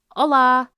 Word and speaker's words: olá: It's very similar to Spanish: Olá!